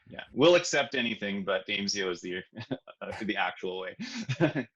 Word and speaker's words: Aimsio: have a little bit of trouble with the pronunciation did i say it's amezio right it is yeah it is yeah yeah we'll accept anything but damesio is the the actual way it seems to